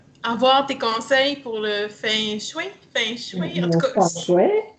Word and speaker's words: feng shui: Répète après moi. Feng. Feng, Feng. feng, Avec un petit fond de G, là. Feng. feng. Ouais, pas trop G.